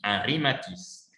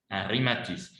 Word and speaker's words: Henri Matisse: Mais ça se prononce Henri Matisse. Henri Matisse.